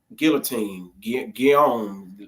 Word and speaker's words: Guillaume: Yeah, you said Guillaume.